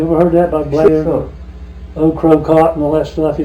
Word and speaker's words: Ocracoke: Ocracoke, that's what I've always been taught.